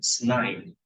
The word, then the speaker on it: sn: This Sn is, some people call it the snine of x. And the Cn would be the knine of x.